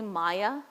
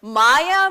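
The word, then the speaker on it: māyā: Now the second part maya please don't mispronounce it and say maya because that will negate whatever we just talked about. Maya means delusion.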